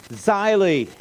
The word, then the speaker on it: Zeile: Richard and then it rhymes with smiley shyly that's German for a line of print or a furrow in the field and German has though has a rule that when two vowels go walking the second one does